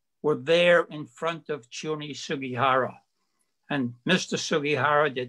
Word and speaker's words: Chiune: Chiune Sugihara, it's a very strange first name, Chiune. If you turn it into Hebrew, C-H-I-U-N-E, C-H in Hebrew is pronounced Chiune.